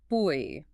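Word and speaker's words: buoy: Like quay, this word is an auditory surprise. It is pronounced exactly like the word boy. Really? Boy.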